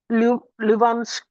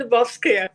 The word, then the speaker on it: Lubovskaya: She's Luvanskaya. Is she there? Yes, I'm here. Yeah. I'm sorry, I must have spelled it very wrong. I pronounced it wrong. No, Lubovskaya.